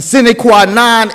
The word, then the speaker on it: sine qua non: Righteous brotherhood is sine qua non of this military.